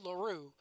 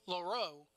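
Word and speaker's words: LaRoux: Now, I said LaRue. It's actually LaRoe. Yes. Maybe it's the Cajun in me because my family is originally from Louisiana. R-O-U-X is pronounced Rue.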